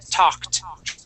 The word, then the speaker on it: talked: okay, that ed ending has a T sound. Okay, when a word ends with a K sound, okay, Mm-hmm. and we stick an ed at the end, that ed makes a T sound. So we say talked.